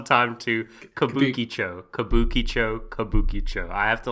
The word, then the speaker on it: Kabukicho: different this time we're gonna be talking about kibou Chico Sherlock case file number 221 if I'm not